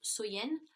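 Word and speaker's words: Samhain: Et, si vous voulez, dans le temps des Celtes, la plus longue nuit de l'année donc était Samen, donc qui se prononce Soyen.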